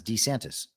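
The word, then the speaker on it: DeSantis: of Ron de santis saying pronouncing his name as D santis ah yes it was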